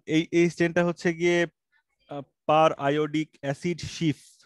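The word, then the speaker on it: periodic acid–Schiff: অনেকে পিরিয়ডিক বলে, বানান যদিও একই কিন্তু পিরিয়ডিক না, এটা আয়োডিক অ্যাসিড, পার আয়োডিক অ্যাসিড, সেখান থেকে পার আয়োডিক অ্যাসিড শিফ, শিফ একটা রিয়েজেন্টের নাম, ঠিক আছে?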